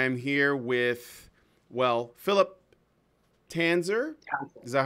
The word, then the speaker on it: Tanzer: I am here with, well, Phillip Tanzer. Is that how you pronounce it? Tanzer? Tanzer.